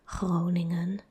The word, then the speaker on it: Groningen: And I know that it's very hard to pronounce the Dutch G followed by a R directly because they both sound kind of similar. It's in the back of the throat. Groningen. It's like a, that's the R.